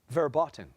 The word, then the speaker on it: verboten: and Abigail Ray she loves Sushi Abigail spell verboten verboten verboten is the first pronunciation of this word verboten forbidden especially prohibited